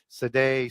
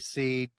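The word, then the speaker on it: sidhe: These are the Shea people, S-I-D-H-E, Sedai, Seed, Shea, whole bunch of different ways you pronounce that same sort of word.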